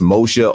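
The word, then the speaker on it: משה: uh modern Hebrew which is Moshe in Hebrew pronounced Moshe or Moshe even the prefix zah from the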